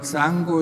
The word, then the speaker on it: Sangho: Buddha is one word, Dhammo is one word, Sangho is one word. And it always has 2 syllables. Buddha, Dhammo, Sangho.